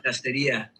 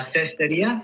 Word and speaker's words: cestería: Él enseña la castería. La cestería, how do you say that? Cestería. Cestería. Sí, cestería. Oh, es el castería.